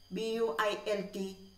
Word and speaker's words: built: too hot but when we pronounce it u is silent so how we pronounce this word b u i lt built say the word